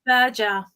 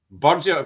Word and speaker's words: Burger: on that's fine you bloody F and my's pronounced Burger burer who I say Burger I say Burger yeah